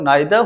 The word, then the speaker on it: neither: की बात करूं तो ब्रिटिश इंग्लिश में इसका जो प्रोनाउंसिएशन है वो आइदर और नाइदर होगा। जबकि अमेरिकन इंग्लिश की बात करें तो इसका जो प्रोनाउंसिएशन है वो ईदर और नीदर होता है।